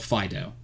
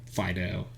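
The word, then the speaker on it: Fidough: That was called Fido. But like spelled like doe, like Fido, doe, and evolved into a Pokemon that was fully cooked, basically, and it's awesome.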